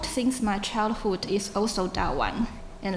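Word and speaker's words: 大宛: First of all, it is noteworthy that in Shiratori's view, the Chinese name in ancient Fergana should pronounce in Mandarin as Da Wan rather than Da Yuan.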